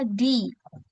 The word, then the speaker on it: the: Nah, ini bacanya bukan the lagi ya, teman-teman. Jadi bacanya di, bukan the lagi.